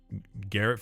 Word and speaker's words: Garrett: Garrett first syllable as in Gary.